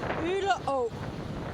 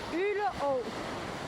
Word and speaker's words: Øle Å: I'm just standing at the mouth of Øle Å, which is a stream that runs out from the centre of the island out into the Baltic Sea.